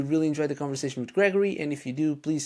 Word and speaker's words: Greigori: had that realization that okay so it's it's Gregory is right yeah yeah it's it's Gregory yeah and uh it's